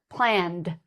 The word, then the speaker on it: planned: Some eds sound like a d sound. So for example, planned.